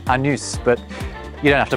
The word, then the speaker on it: Anus: The locals will tell you it's pronounced Anus, but you don't have to put up with their cheek.